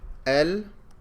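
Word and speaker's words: المسجد: the lamb el orphan same thing with meme al-masjid there's no shadow on the meme and I'm pronouncing the lamb al-masjid wall there wall there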